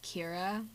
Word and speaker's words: Ciara: i know technically in it's supposed to be pronounced kira but i don't care and it's my character and her name ciara so that's kind of